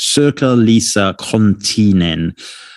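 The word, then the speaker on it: Sirkka-Liisa Konttinen: i'll spell her name as well once i pronounce it circa lisa continen um s-i-r-k-k-a hyphen l-i-i-s-a space k-o-n-t-t-i-n-e-n we will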